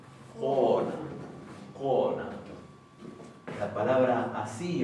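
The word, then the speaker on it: kona: Entonces, por ejemplo, en la palabra mujer, no se pronuncia cona, sino que se dice cona.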